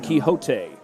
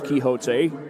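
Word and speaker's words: Quijote: I think that's Quixote. That Q-U-I-J-O-T-E. I think that's how you would spell Quixote. I think that's how you would pronounce that. Quixote again takes it up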